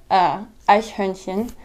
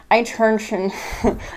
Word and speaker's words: Eichhörnchen: And it's Eichhörnchen. But that word is so hard to pronounce when you're first learning it. So it sounds like Eichhörnchen.